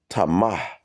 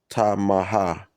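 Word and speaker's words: טמא: So this word polluted goes back to H2930 and it's uh pronounced tama. Tamaha. So tama.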